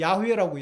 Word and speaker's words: 야훼: 이 여호와가 아니에요. 여호와가. 예? 여호와로 하려면은 제호, 배, VH 이렇게 해야 돼요. 이렇게. 예? 이건 분명히 오시리스고 견우고, 예? 이 야훼라고 야훼. 야훼가 파더고 파더의 파가 이 뱀이란 뜻이에요.